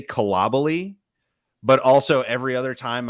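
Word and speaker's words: Coulibaly: professional soccer it's been cool to Bali so who knows uh but the for what it's worth the French are pronouncing it uh collably which is different for me but um uh yeah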